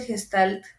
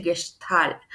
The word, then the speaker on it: Gestalt: Que estaba en una clase y el profesor, dijo, no se dice Gestalt como meme, ¿no? De no se dice Sara, se dice Sarah, así. No se dice Gestalt, se dice Gestalt, ¿no?